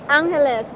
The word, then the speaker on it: Angeles: for the longest time I was just thinking it's like Los Angeles right it's Angeles so what about that